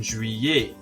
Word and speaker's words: juillet: Janvier, février, and juillet. All of those are pronounced like ier at the end and have a silent R and a silent T.